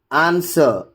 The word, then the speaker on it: answer: W is silent in the following words also. You can just notice it here. Who, whose, all, whom, whole, whoever, answer, sword, to. In all these cases, it becomes a silent letter.